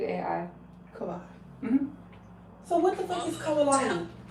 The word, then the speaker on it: Kawai: Kabay. Shar. Spell it. K A W A I Kabai.